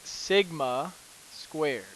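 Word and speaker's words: σ²: this symbol here and that is red as Sigma squared all right Sigma squared so that is how you say that to calculate the variance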